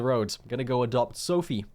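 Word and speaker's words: Sofie: going to go adopt Sophie which is how you pronounce that name I've always said it as Sophia my bad she's just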